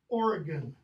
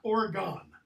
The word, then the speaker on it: Oregon: border it's Missouri okay similarly if you're from this state how's it pronounced Oregon not Oregon at some people knows